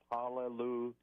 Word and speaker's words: hallelujah: And uh the other thing that confirms that is we don't say hallelujah. We say hallelujah. So the first syllable is yah.